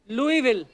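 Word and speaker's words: Louisville: आज आगे तभी बढ़ेंगे लुईस जब लिखा है तो स क्यों नहीं बोल रहे हैं जैसे नाइफ में क साइलेंट होता है के साइलेंट होता है वो तो के पहले आता है ये तो बीच में घुसा हुआ है बट कई बार लुईस प्रोनाउंस होता है एस के साथ और कई बार नहीं वो कई क्यों नहीं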